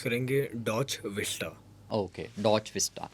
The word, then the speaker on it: DotchVista: अच्छा वसीम भाई इसको हम प्रोनाउंस करेंगे डॉच vistा।